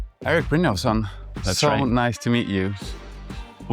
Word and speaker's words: Erik Brynjolfsson: Cheers, Eric Bosson.